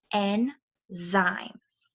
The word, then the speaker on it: enzymes: here it tells you how to pronounce this tricky word n zaimes these start to break